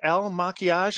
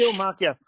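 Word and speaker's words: Il Makiage: Was it El Maquillage? Am I saying it right now, Ken? Eel, like a fish. Il Maquillage.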